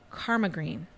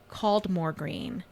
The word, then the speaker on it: Caldmore Green: well-known area of Walsall, Karma Green. Oh. Whereas someone who isn't familiar with the area would have pronounced it Caldmore Green because that's how it's spelled.